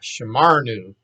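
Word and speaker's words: שָׁמַרְנוּ: Accent is on the ma, shamarnu.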